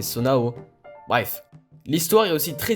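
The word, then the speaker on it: Zonai: Depuis des années j'appelais ça des sonos, alors qu'en fait c'est Sonao.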